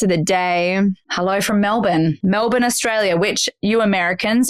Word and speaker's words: Melbourne: and different parts of the day hello from Melbourne Melbourne Australia which you Americans it's not Melbourne it's not you're in melbour melin melbour even though it's spelled there's no R there is it's b